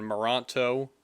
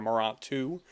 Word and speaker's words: Merantau: He directed 2 previous films before this, Footsteps and Moranto, or Morantu. How do you say that? Merantau, Warrior.